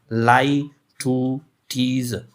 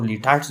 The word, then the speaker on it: litotes: और इट्स pronunciation is लाई टू टीज। लाई टू टीज यानी इसकी प्रोनाउंसिएशन इस तरह प्रोनाउंस होती है यानी LIE लाई, TUH टू एंड TEES टू, लाई टू टीज। यानी बाज़ लोग उसको लिटाट्स भी कहते हैं लेकिन एक्चुअल प्रोनाउंसिएशन उसकी लाई टू टीज है।